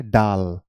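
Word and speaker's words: dal: pronunciation बता देता हूं आप इसे दाल नहीं बोल सकते आप इसे क्या बोलेंगे डाल डाल इसे आप रायता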